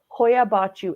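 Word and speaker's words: Hoia Baciu: why but what's the name how do I spell it Hoya bachu h-o-i-a uh and then the second word is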